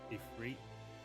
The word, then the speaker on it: Ifrit: I think they have emphasis on the second. It's Ifrit and Ramu.